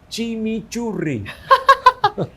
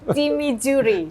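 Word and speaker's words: chimichurri: a fancy name you have to pronounce it okay I try try chimi churi Chim churi chimi chimi Chri okay like like rad R okay yeah so it's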